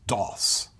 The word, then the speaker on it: Daws: Correctly pronounced Doss, by the way.